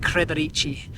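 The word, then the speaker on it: Kredarica: I can't actually say it. It's pronounced like Kredarici, which is 2,520 up.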